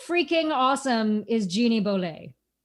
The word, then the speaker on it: Bolét: freaking awesome is jeannie boley she doesn't rhyme with robert goulet boley actually how freaking awesome